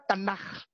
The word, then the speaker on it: Tanakh: Ini dibaca Tanakh. Bahasa Ibrani. Tanakh.